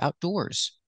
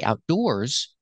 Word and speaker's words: outdoors: first syllable outdoor seating and when I say Outdoors the stress is on the second syllable outdoors and the difference in